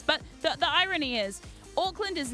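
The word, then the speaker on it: Auckland: New Zealand called Oakland Oakland spelled with an a some people are like Oakland like Orcs no no no Oakland like a u c k land not Oakland they're very different places Oakland and Oakland are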